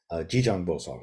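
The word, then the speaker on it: Jijang Bosal: over again if you click on this link G Jang Bosa who is Kitty Garba or jizo uh the this is the Korean pronunciation of The buddhis satva Who um uh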